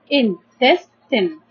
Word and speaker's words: intestine: As we know that the e in the end of the words, in many words in English, doesn't pronounce, so it's no. So, and we have intestine.